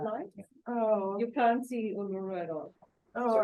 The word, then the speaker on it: Uluru: And And so you're pronouncing Uluru, Ulu? Uluru.